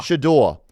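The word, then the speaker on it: Shedeur: Shador.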